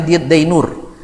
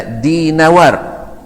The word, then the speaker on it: Dinawar: satu tinggal di dininawar kalau orang kita bilangnya dainur yang betul adalah dinawar dinawari orang kita bilang